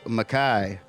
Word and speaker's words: Mekhi: that's your real first name that's how you spell it yeah Makai m e k h i hell yeah so